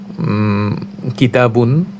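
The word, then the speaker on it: كتاب: তখন অক্ফ অথবা থামার সময় শেষের যে তানভিন অর্থাৎ দুই পেশ ছিল এর উচ্চারণ হয় না, বরং শব্দের শেষে হারফুন এ সাকিন করে থামতে হয়, অর্থাৎ দুই পেশটাকে সাকিনের মাধ্যমে থামতে হয়।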